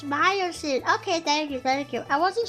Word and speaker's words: Miocene: Oh, it's Miocene. Okay, thank you. I wasn't sure if I was saying it right. I pronounced a lot of words wrong.